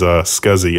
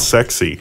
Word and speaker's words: SCSI: Well, my favorite of all time was SCSI. SCSI. People in California, for whatever reason, pronounce that sexy.